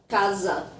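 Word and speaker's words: casa: an an easy rule when you have one s between two vowels you read like a z Kaza almost like the word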